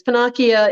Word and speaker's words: Pennacchia: people try and pronounce my last name panasia which is insane um it is pinakia it's pinocchio with different vowels and so just tell